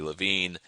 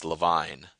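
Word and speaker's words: Levine: Jerry's like, "Oh, this is my cousin Arty Lavine." And Arty says, "Leavine."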